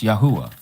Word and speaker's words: Yahuah: It's Yahuah. Let me spell it out for you.